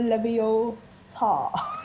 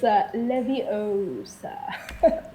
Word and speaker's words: Leviosa: Wingardium Leviosa. No. It's Leviosa. Wingardium Leviosa, exactly. It's Leviosa.